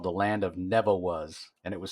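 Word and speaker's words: Nevawuz: in concord it was called the land of neville was and it was spelled n-e-v-a-w-u-z like phonetically you know neville was yeah and i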